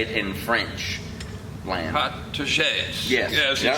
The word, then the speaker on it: protégés: Protégés.